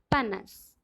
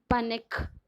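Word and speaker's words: panache: Okay, coming to the next word, this word is that is panas. See, it is not panic. Okay, the right pronunciation is that is panas.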